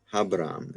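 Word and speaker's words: Ἁβραάμ: This is a rough breathing mark. So really, it'd be Habram. Habram is the way that would be trans or pronounced.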